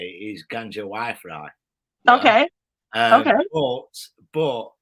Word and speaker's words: Gangewifre: There's probably a correct way of pronouncing it, but that's the way I pronounce it. So Gangewifre, yeah.